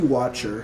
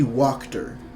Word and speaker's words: Walker: You guys got a letter from lady who I called Lady Watcher. Her name's Lady Walker. I mispronounced it.